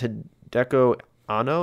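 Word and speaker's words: Hideaki Anno: Then, I think his name is Hideko Anno, I think is how you pronounce his name.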